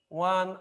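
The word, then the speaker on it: one: ওয়ানের আগে শুরুতে ও রয়েছে এবং ওর উচ্চারণ হয়েছে ওয়ার মতো।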